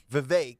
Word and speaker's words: Vivek: Vivek. Rhymes with cake.